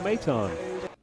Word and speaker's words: Maton: Phil the Mets relievers name was pronounced uh Madden last name let's let's hear how it's pronounced out number two and that's three consecutive strikeouts for Phil maton close you know what I'm going to sck